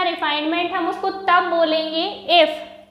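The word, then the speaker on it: refinement: चलिए देखिएगा next term है हमारे पास रिफाइनमेंट, रिफाइंड नहीं है ये, रिफाइनमेंट है, प्रोनाउंसिएशन सही कीजिएगा।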